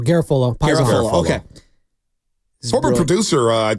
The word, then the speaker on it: Garafolo: Garafolo. Not Garofalo. No, Garafolo.